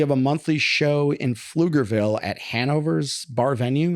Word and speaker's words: Pflugerville: You don't pronounce the P. Yeah, Pflugerville. Yeah, I call it Poogerville.